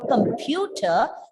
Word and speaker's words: computer: In the word computer, the second syllable is stressed. And there is a silent R at the end. Computer. You start the word computer with a plosive ka.